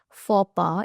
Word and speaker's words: faux pas: And this is the word of the day, which is faux pas. It's French, hence the pronunciation.